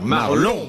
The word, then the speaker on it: Marlon: J'ai j'ai prononcé Marlot, j'ai eu tort. Marlon Marl Marlot branlon